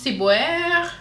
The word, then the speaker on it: ciboire: Les Québécois le prononcent ciboire, ciboire.